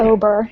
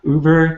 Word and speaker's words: Ober: and I didn't ask, is it Ober? I assume it's Ober, right? Or am I mispronouncing it? It is okay. Ober. It's not fancy. Very easy. Uber? No, that might be a little weird.